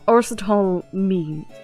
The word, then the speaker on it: Aristotle Means: Arsetal? I am Arsetal Means, a professor at this hallowed hall of learning.